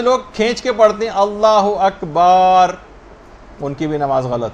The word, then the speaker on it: اللہ اکبر: جو آپ کہیں گی۔ بہت سارے غلط تلفظ لوگوں کے اندر رائج ہیں، مثلا اللہ و اکبر، اللہ اکبر ہے، یہ اللہ و اکبر نہیں، اگر کوئی ایسے کہہ